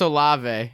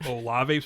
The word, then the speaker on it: Olave: He said, by the way, you pronounced, okay, so the, Oh, he's going to say Chris Olave.